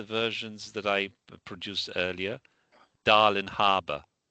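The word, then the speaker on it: Darling Harbour: Darling Harour. Now you've got to pronounce the G.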